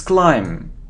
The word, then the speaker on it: climb: it's B it's behave it isn't climb but it's climb so we don't pronounce B it's climb okay how